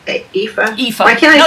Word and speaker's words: Aoife: That Will was killed Effie's brother. Brother. It's Aoife.